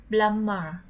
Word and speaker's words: plumber: Plumber. Now again please. Plumber. Plumber. Chữ bờ. Bờ này là bờ căng ha. Nên chúng ta không đọc bờ mà chúng ta đọc là plumber.